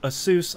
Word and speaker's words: Asus: Nvidia Dell Alienware and Asus which I know is pronounced Asus I don't care yeah I like saying Asis way better yeah um it feels better coming out my mouth yeah Asis assus come